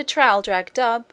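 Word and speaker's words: Traldragdubh: and my retinue to trial drag dub or Trill drug drip for it is pronounced both ways as near as I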